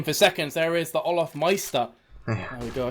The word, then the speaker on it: Olafmeister: There is the Olafmeister.